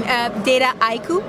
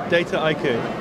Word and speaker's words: Dataiku: How do you pronounce that? Yeah, I know it's a complicated name. Dataiku. Dataiku.